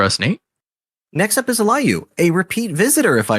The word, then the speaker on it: Aliyu: but I'm just trying to validate that I'm pronouncing your name correctly. Aliyu? Is that sounding right? Yeah, the name is Aliyu. Aliyu. I remember there was something. Yeah, cool. Yeah, Aliyu.